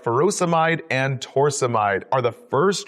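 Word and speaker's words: furosemide: Potassium wasting ends in ey like ferosomide or hydrochloroioide. Both rhyme with dried.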